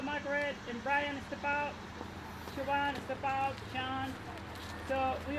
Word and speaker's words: Siobhan: And then, Siobhan. yeah, Siobhan. Then step in, please. The B is silent.